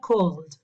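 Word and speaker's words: called: Call termina con L, con dark L. Si ven el video de ese sonido, lo van a tener todo explicadísimo. Se pronuncia cold, cold.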